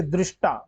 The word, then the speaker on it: दृष्टा: शुद्ध अब वही है कि दृष्टा, यहाँ पे री का उच्चारण होता है हमेशा, दृष्टा, ये दृष्टा नहीं।